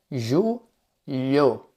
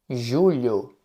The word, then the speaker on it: julho: Quanto mais você praticar, melhor vai ficar a sua pronúncia. O outro mês que nós temos é ju lho. Julho.